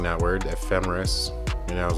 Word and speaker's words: ephemeris: started pronouncing that word ephemeris and i was like is it emphasis memphis no it's not emphasis ephemeris i feel like that